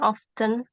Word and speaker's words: often: Oh, they do not go to the theater often. They do not go to the theater often ya bacanya. T-nya tuh silence. Often.